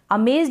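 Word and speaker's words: amazed: अमेज्ड यहाँ पर ये जो जेड है ना इसको आधा ज पढ़ रहे हैं, ईडी का ड बन गया, अमेज्ड। ये जो ए है इसको अ पढ़ रहे हैं, और एम का म, और ये जो ए है ना ये वाला ए, ये ए की मात्रा के रूप में पढ़ा जा रहा है।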